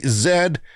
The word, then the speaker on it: Z: can tell you that the united states of america is the only country in the world that pronounces it z so toyota has unveiled